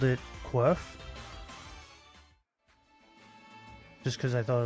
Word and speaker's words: Quirf: And I called it Quirf. Just because I thought it was funny. Like Q-U-R-F, like Quirf. That's how I pronounce it, Quirf.